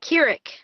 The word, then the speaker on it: Kirik: Yeah. Kirik. Yes, Kirik. Got it right. Okay.